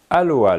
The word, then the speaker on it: aloha: Aloha les amis. Alo, oha, ra. Voilà les 3 syllabes que l'on retrouve dans le mot aloha et qui est très important de bien assimiler.